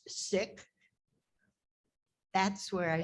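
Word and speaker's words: Sikh: to us did you know seek is not pronounced seek it's pronounced sick that's where i say they're going to come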